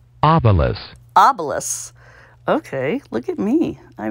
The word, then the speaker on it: obelus: Obala. Obala, I was saying it wrong, too. Obelus.